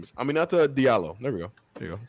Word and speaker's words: Aminata Diallo: Her name is Aminata Diallo.